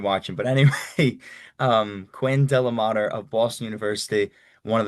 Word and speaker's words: DeLaMater: Dela Mater. I know the capital letters can get people confused but it's pretty Dela Mater. Pretty smooth.